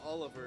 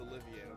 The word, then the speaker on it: Olivia: Uh so like he's telling me he's like my name's not Oliver, it's Olivia.